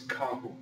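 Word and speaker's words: carro: start with the noun car as we learned before is kahu now we don't just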